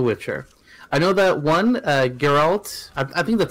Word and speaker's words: Geralt: I know that one, Geralt, I think that's how you say it, right? Geralt?